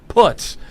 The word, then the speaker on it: Putz: That's how you pronounce his name, Putz.